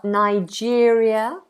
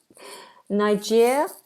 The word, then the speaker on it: Niger: check this interesting okay Americans say Niger Brits apparently although I've never heard this say N N N I never heard that I've heard the more American pronunciation which is Niger Niger not that I